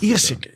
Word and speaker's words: Ierseke: And it was called Ierseke. Do I pronounce this correctly? Ierseke.